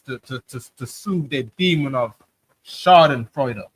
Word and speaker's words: Schadenfreude: And they take joy in it based on their Schadenfreude. I'm saying it wrong. Schadenfreude.